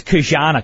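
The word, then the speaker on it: Ki-Jana: I think it's Kana Carter is how it's pronounced though, just for the record.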